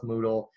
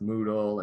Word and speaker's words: Moodle: overview of some technologies that work well with Moodle and that I've used a lot the next